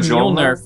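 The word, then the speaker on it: Mjölnir: If you say Mule nerf, it's so close to it. Like, how do you say that weird thing? Just say Mule nerf without the F at the end, and you're good.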